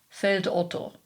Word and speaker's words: Feldotto: for what it is, pronouncing it in a standard German fashion, Feldotto.